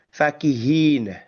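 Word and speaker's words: فكهين: Fakihina. Oke. Fakihina. Oke. Perhatikan bahwa pengucapan huruf fa ini di sini itu pendek. Fakihin berarti ya. Fakihin ya bukan fakihin. Awas itu ya fakihin pendekannya pendek. Huruf fa-nya pendek ya fqihin gitu.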